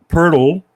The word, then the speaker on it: Pirtle: They just have nothing on the interior other than Pirtle, which rhymes with turtle.